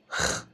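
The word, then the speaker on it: خ: Elle se prononce Ch. La prononciation de cette lettre est très similaire aux langues germaniques, comme l'allemand, le néerlandais.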